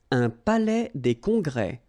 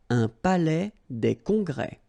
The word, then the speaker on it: un palais des congrès: Un palais des congrès. Final S here and here are not pronounced. Un palais des congrès.